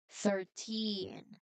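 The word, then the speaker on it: thirteen: If you say 13 with a stress on the start, people will think you said 30, which is totally a big mistake. We must put the stress on the end.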